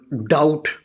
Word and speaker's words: doubt: Letter B, which is one of the consonants. In, for example, doubt, D-O-U-B-T, doubt.